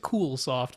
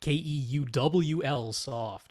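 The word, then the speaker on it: Keuwlsoft: I'm sure they pronounce it Coolsoft, but it's Keuwl soft.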